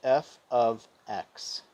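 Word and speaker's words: f(x): It's pronounced f of x equals x in this case.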